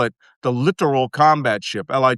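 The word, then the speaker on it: littoral: Uh, Malcolm, the literal combat ship is pronounced literal, not literal. I know. And I always spell it the literal combat ship, Li T O R A L, which means inshore, close in shore.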